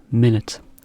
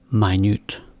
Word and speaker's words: minute: Probably as this. Minute. 1 minute. But the other way you can see it is minute, which means small.